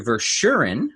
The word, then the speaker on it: Verschuuren: ver Shirin apologies if I'm messing the pronunciation up at all and he is a